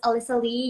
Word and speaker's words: Alyssa Lie: you so much for joining my name is Alysa Lee you pronounced that right I am from Singapore I'm